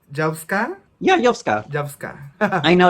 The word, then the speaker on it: YOVSKA: Yeah, YOVSKA.